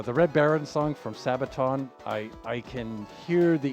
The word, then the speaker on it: Sabaton: How's How's Sabin spelled, son? I think I saying it wrong. S A B A T O N Sabat.